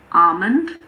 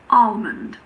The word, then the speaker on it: almond: In the word almond, the L is optional. I personally say almond, so I don't pronounce the L, but you can also say almond.